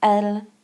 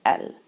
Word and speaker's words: elles: And just like il singular and il plural are pronounced the same way, elle plural and elle singular are pronounced the same way because we aren't pronouncing that S. So elle and elle.